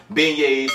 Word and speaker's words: beignets: printed out how do you pronounce b-e-i-g-n-e-t it's pronounced beignets a new orleans special and so that's what